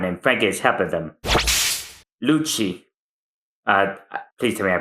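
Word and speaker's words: Lucci: Luchi. Uh, please tell me I pronounce that right.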